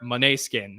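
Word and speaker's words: Måneskin: Bill Haskell, anything else on Will Forte or Moneskin, as in now I've heard that's how you pronounce it?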